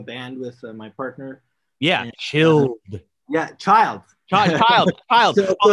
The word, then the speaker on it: Chiiild: like another DJ say like Chiiild, and I'm like, no, dude, it's Chiiild. It's Chiiild. Three eyes.